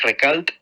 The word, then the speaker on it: Recalt: Twitter es @ recalt recal se escribe r e c a L t recalt también